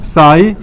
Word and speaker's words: psi: देखें यहाँ ग्रीक अक्षर साई, या अंग्रेजी में PSI लिखते हैं, साई, जहाँ P साइलेंट होगा।